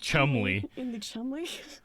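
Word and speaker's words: Cholmondeley: been men in chomsky chumley chomsky chomsky but all the victims have been men and chum damn it i totally get it it doesn't look like it should be pronounced chumly come on delete funny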